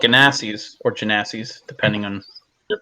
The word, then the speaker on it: Genasi: They're called Ganassis or Genassis, depending on their pronunciation. And she seems to be of the water elemental type. Okay. The Genasi, as I recall.